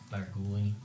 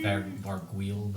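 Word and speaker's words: Vargouille: Varguli. That's not how you say it. It's actually Varguil, but Varguli sounds like weird.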